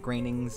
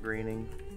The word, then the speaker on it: Groening: Anyway, yeah, we are talking about Disenchantment, Matt Groening's new series that he's done since he's done, Simpsons, Futurama. Matt Groening.